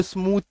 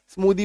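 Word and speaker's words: smoothie: क्या किया गया है स्मूदी इसको स्मूथ नहीं बोल सकते स्मूदी बोलेंगे रीजन क्या है ना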